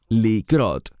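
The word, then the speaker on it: לקרות: Me refiero a una palabra que se deletrea Kuf Resh Hei y se pronuncia likrot, significa pasar o acontecer.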